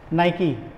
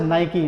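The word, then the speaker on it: Nike: पास सबसे पहले है नाइकी इट is pronounce as नाइकी नॉट नाइक ठीक है सो नाइकी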